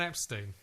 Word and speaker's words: Epstein: Do you want to see Brian Epstein? Yeah. What can I say about him? Well, he's their manager, and it's pronounced Epstein, and he got always annoyed that everyone called him Epstein, but it never got corrected.